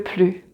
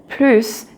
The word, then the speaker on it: plus: And even if the word plus means more, you will not pronounce the final S. So the final S will be silent.